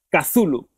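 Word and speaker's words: Cthulhu: primigenio y dice joe su club siempre lo pronunciado como cazulo dice por cierto muy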